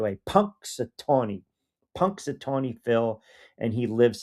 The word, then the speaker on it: Punxsutawney: Matt in Delaware with the final word says, Q, I'm shocked you actually pronounced it the right way. Punxsutawney.